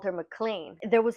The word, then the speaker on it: McLean: constantly changing her name her actual name is McLean or mlan I kept calling her mlan but it's spelled McLean whatever in this town she